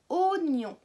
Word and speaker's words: oignon: Ça, c'est un oignon. Est-ce que dans le mot oignon, on entend le son O? 2 syllabes. Oignon. Oui, au tout début.